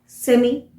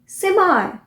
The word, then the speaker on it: semi: अब ये वर्ड देखिए, SEMI, बहुत सिंपल है, सेमी। सेमी। बट सेमी जो है वो ब्रिटिश प्रोनाउंसिएशन है। इसी वर्ड को अमेरिकन कैसे बोलते हैं, सेमाई। सेमाई। ई को आई, सेमाई।